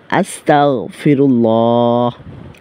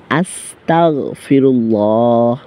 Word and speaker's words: আস্তাগফিরুল্লাহ: আস্তাগফিরুল্লাহ। আস্তাগফিরুল্লাহ। আস্তাগফিরুল্লাহ। এইভাবে উচ্চারণ করতে হবে। কখনোই আসতা গ এর জায়গায় ক উচ্চারণ করা যাবে না।